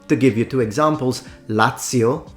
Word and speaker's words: Lazio: give you two examples Lazio The Zed is pronounced as at because it comes from Latin TI pranzo The Zed is